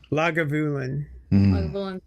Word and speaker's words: Lagavulin: Lagavulin. I'm just one word. Fucking Lagavulin crazy. is my favorite scotch. I adore it. It's What really is it? tasty. Lagavulin? Lagavulin.